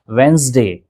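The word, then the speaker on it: Wednesday: लेकिन इसका सही प्रोनाउंसिएशन है वेडनेसडे। वेडनेसडे। जी हां, डी का साउंड यहां पे प्रोड्यूस नहीं होगा और आपको पढ़ना है वेडनेसडे।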